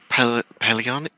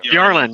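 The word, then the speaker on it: Phiarlan: I always say this house wrong. Paleon? Fireland? Fiarlan? There you go. Fiarlan, yay! I said it right.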